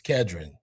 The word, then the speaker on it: Khedron: How you pronounce it? It's Khedron. Khedron.